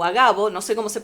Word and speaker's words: Agabo: levantándose un profeta llamado Ágabo o Agabo, no sé cómo se pronunciará. No tiene acento en nada, así que es Ok, Agabo, un profeta llamado Agabo,